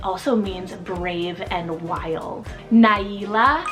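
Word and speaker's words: Naila: means brave and wild Nyla spell n-a-i-l-a Nyla it has a little bit of a different print pronunciation then maybe what it looks but this one is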